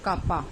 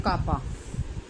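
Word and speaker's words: κ: इट is represented by कापा, इसको बोलते हैं कापा, K is pronounced as कापा।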